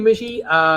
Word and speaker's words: Mishy: Thank you, Mishy. Sounds like fishy, rhymes with fishy.